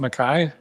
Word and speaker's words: MacKay: Um he had mentioned that your name is spelled I would say McKay but you pronounce it Mai. Yeah, Mai. My father's Australian and they held on to the Scottish pronunciation. So Mai, but it's the same clan.